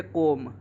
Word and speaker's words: comb: जैसे इसके भी कुछ एग्जाम्पल लिए हैं, जैसे कोम, हम कोम को COM ना लिखकर कोम को COMB लिखते हैं। यहाँ पे बी हमारा साइलेंट होता है, लेकिन ये स्पेलिंग गलत नहीं है, ये स्पेलिंग सही है।